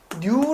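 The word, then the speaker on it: ν: 잘 모르더라 고 해서 요건은 읽을 때 뉴 라고 읽어요 요게 바로 뭐예요 동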